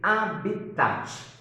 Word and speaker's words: habitat: O primeiro deles é o conceito de habitat. Habitat se escreve com H no início e T mudo no final. Habitat.